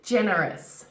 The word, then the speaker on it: generous: so charming she's so charming now the word generous generous careful guys here with the jeans knocking